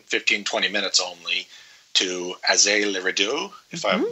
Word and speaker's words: Azay-le-Rideau: So from there, we drove, and again, 15, 20 minutes only, to Azay-le-Rideau, if mm-hmm. I'm pronouncing that right. Yeah, Azay-le-Rideau, yeah.